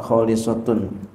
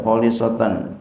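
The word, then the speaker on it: خالصة: Biropi, dengan ropa, khalisatun. Wanasbi dan nasab, khalisatan, khasatan. Ya, bacanya boleh dua. Boleh khalisatan, khasatan, boleh khalisatun, khasatan.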